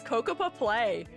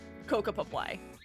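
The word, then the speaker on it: Cocoppa Play: This is Kokapa Play.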